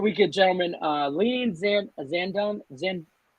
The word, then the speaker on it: Zandon: gentlemen uh leans in zandon zen zanden like brandon that's how i learned how to pronounce it sandin or messier messier